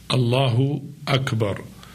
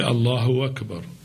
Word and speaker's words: Allahu Akbar: Allahu Akbar and then the two words should be pronounce it properly Allahu Akbar some people do not pronounce it properly say Allahu Akbar see Hamza of a cube are that some of the people do not make it clear say Allah who work about this is wrong Allahu Akbar is not